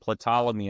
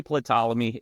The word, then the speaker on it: Ptolemy: And it definitely, the 300 years between zero date and Ptolemy at 336.